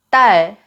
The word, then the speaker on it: 딸: 달, 탈, 딸, 달, 탈, 딸. 어때요? 딸을 탈로 발음하면 조금 이상하게 들리는 이유가 바로 이거예요.